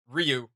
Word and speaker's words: Ryu: see is um like Ryu versus Ken. And I know that a yeah. lot of people say it Ryu, but his name is actually pronounced Ryu.